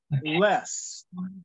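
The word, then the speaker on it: loess: thank you yeah the King James Bible otherwise known as the Bible yeah s is spelled e-s-s um so the soil is pronounced less so it's a wind-blown soil so if you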